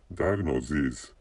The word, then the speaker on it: diagnoses: form of diagnosis the the pl form is pronounced diagnoses and I accidentally I'm misten with pronounce diagnosis